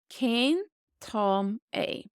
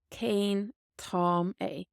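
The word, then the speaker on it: Cén t-am é: that you've heard before one way is to ask Kane Tom a Kane Tom a king Tommy what time is it this pronunciation in yellow is just a general guide and it's not specific to any dialect you can type this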